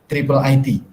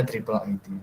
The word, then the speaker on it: IIIT: Ya, kalau Pak Alatas ilmunya lembaganya, universitasnya namanya ISTAK, kalau Profesor Faruqi namanya Triple IT. Ya, ini bacanya Triple IT, dan 3I bukan III, bukan IIIT, tapi Triple IT.